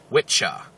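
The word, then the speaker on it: wicce: The pronunciation, if you look up Old English, is not Wicca, it's Witcha. And it sounds very much like witch, but it's witcha and witche.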